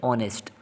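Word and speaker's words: honest: मैंने अंडरलाइन किया हुए ऑनेस्ट इसको ऑनेस्ट नहीं पढ़ना हा साइलेंट है पहले अगर आपको आर्टिकल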